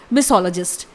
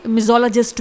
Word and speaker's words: misologist: इट इज मिसोलॉजिस्ट। आप इसे मिजोलॉजिस्ट भी बोल सकते हैं।